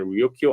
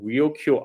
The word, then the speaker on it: Ryukyu: First they refer Luchu by the Japanese pronunciation Ryukyu Islands, but then they decide to rename the main island.